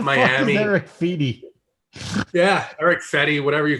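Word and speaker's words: Fedde: Let me go look up Feedy, and then they're like, I don't know who Feedy is. What's a Feedy? Look at how you spell his name. How do you say his name? Fetty.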